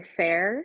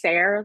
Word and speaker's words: Sarah: I know a lot of people think it's pronounced Sar is what I get a lot when you guys come up and meet me, but it's Sarah. Like think like Sarah Bear or like Sarah minus the Okay.